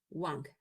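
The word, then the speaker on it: 王: Wang, así se pronuncia este carácter.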